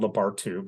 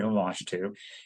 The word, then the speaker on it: Lamashtu: There's also a goddess demon named Lamashtu, used to be called Labartu, but they realized that they were pronouncing it wrong. It's actually Lamashtu.